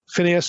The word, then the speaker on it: Phineas: should mention Phineas okay that's the way most of us would pronounce this Phineas or Pinos in Hebrew this name is also